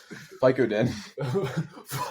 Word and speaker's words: Vicodin: Vicodin.